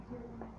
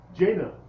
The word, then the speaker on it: Jane: I'm Jane. Who? Jane. Jana. Spell it for me. It's Jane. Jane.